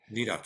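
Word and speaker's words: Vidocq: Roosevelt's Beast Teddy Roosevelt the Black Tower Eugene vidok vidok am I pronouncing that correctly vok yeah vok according Mr Lincoln obviously Mary Todd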